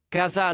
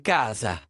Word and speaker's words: casa: Ah, casà non, c'est càsa !